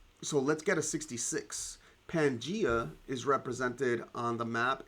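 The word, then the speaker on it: Pangaea: Pangia is represented on the map. Is it at A, B, no, A, C, D, or E? And uh so pangia is a um is a superc continent that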